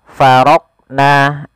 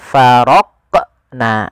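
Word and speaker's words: فَرَقْنَا: Contoh faraqna, ini tidak memantulkan huruf qaf, ini salah. Yang kedua faraq, nah ada menambahkan hamzah setelah huruf qaf itu menjadi faraq. Nah harusnya langsung saja faraqna, faraqna, ya mengalir dia huruf qafnya sesuai dengan makhrajnya.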